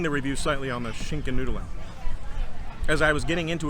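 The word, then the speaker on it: Schinkennudeln: So, the Schinken Nudelen.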